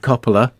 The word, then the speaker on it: Coppola: Directed by Francis Ford Coppola.